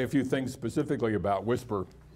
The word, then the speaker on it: WSPR: probably played with the whisper mode um that was the acronym there was supposed to mean weak signal propagation reporter and it's nice that it pronounces as as the acronym whisper we talk about Whispering